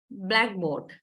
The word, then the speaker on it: blackboard: The similar example, blackboard. Blackboard. So black primary stress, board secondary stress, if you take it as one word.